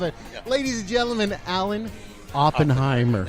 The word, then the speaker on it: Alan Oppenheimer: Ladies and gentlemen, Alan Oppenheimer. Look at that. Did I say it right? You did.